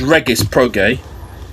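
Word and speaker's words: Regis Prograis: He's saying Reese Pro. I'm sure it's Reggus Pog.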